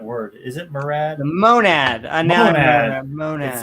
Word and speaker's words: monad: The monad. Monad. It rhymes with gonad, that's why.